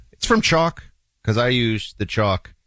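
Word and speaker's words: Choq: Chalk is spelled with a Q as in c h o q.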